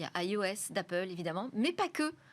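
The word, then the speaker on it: /e/OS: Il s'appelle iOS, mais ça s'écrit EOS.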